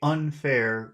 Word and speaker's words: unfair: The fair sounds like it's the important one because of the R. You have to because you have to pronounce the the vowel sound extra long because of the R. And that's why it sounds like it's the accented syllable, but it's not. It's un.